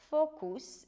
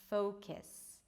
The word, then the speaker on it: focus: Or the U may be pronounced as U, like focus instead of focus.